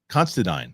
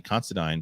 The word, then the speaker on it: Considine: rightfully so he had Patty uh constadine is how you pronounce it found that out through his interview Patty considine talking numb House of